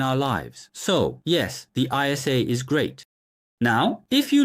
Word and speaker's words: ISA: When you say ISA in English, it sounds like interest. So, what about interest? Of course, it should be pronounced as I and S, but it sounds similar to interest.